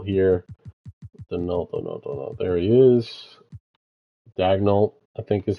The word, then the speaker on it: Dagnol: Dagnol I think is how you're actually supposed to pronounce it.